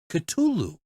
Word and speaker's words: Cthulhu: Cthulhu, like that. And she's like, Cthulhu. And he's like, oh, Cthulhu. That's how you say it.